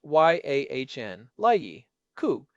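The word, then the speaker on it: Jan Leike: And do not forget Jan like pronounced Y Ahn Lei Coup.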